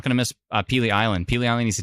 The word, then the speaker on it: Pelee: Is that how you pronounce it? Is that how you write it? Pelee Island? Pelee Island.